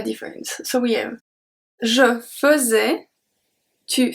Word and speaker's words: faisais: I don't know if you heard it well, but the AI at the beginning is pronounced fuzz, fuzz. We do not say fait, faisait. Qu'est-ce que tu faisais? We don't say that. We say faisait, faisait.